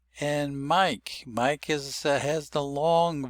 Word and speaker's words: Mike: The silent e indicates a long vowel. Mike. And if you know your name is Mike, you can see that's the way it's spelled in traditional spelling. But you say it without saying that E on the end. You say Mike. And so you say three sounds. The M, the K, and the long I.